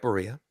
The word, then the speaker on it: Barilla: You said it right, Barilla. Yeah, oh, is it? I don't know if that's pronounced translated over.